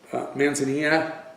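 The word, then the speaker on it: Manzanilla: It's Amontillado, Manazanilla, Amontillado. They don't say their L's.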